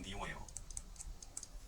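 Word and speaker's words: Leo: 저는 유튜브 레오의 생각들의 주인장 레오입니다. 영어 발음으로는 리오예요.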